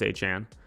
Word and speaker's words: Etienne: I'm going to try and say his name how it should be pronounced. I will do it. So it's Travis Etienne.